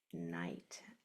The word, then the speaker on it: knight: The K is silent. You only hear the N.